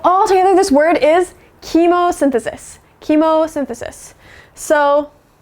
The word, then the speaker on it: chemosynthesis: fear, we are going to learn how to pronounce it together. So all together, this word is chemosynthesis.